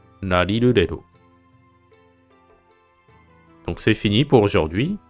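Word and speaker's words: らりるれろ: Par contre, à la lecture, faut pas prononcer le R comme à la française. C'est pas rari rurero, c'est bien la li lu le lo.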